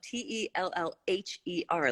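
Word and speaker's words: Tellher: tell her Co and teller is spelled te ll h ER like tell her yes Heller like goat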